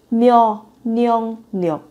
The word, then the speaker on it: 면역력: 면역력. 면역력. Từ này thì nó phát âm phải biến âm nhiều nên là các bạn chú ý. 면역력.